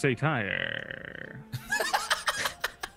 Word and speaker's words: satyr: It's pronounced satire.